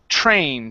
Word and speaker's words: trained: Next up, we have the word trained instead of trained. Okay, this is a long A sound, and then our ED ending, which sounds like a D.